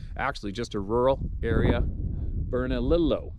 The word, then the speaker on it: Bernalillo: valley which is actually just a rural area bernalillo pronounced bernalillo county at the time now when i say